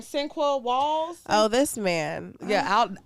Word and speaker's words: Sinqua: Sinqua Walls. Sinqua Wall. How the fuck do you spell that?